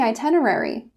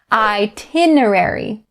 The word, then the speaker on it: itinerary: in the itinerary so when you look up this word in the oxford dictionary it says that the pronunciation is itinerary now it depends on who you talk to they will change it to itinerary which is one of the ways that i do it and i've also heard